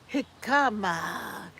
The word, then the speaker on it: jicama: The accent is on the hick. Hickama.